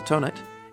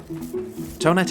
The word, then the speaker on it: Thonet: the designer's name Michael tonet is often mispronounced in the French style th tonet was in fact not